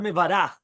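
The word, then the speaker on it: מְבָרַךְ: The word Mevarach is spelled Mevarach with a kamatz under the bet and a patach under the resh.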